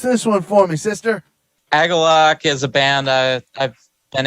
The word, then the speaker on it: Agalloch: You should say just like Agalloch. Yeah, I think it's a Japanese word. I think they were saying for a type if it's of Japanese, resonance. you definitely got to say it like that. Agalloch.